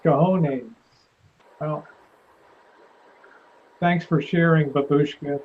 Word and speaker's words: cojones: Babushka says it's cojones. It's pronounced cojones.